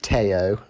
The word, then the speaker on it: Théo: I think it's Théo Pourchaire, but it's probably it's pronounced Théo. Like Teo Fabi, I guess, as a driver in the 90s.